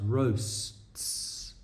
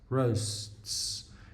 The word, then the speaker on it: roasts: That's my job, but always just try like break the words down. Even though it's one syllable, try break it down into 2 parts. Roasts. Roasts.